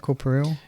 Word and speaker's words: corporeal: Corporeal?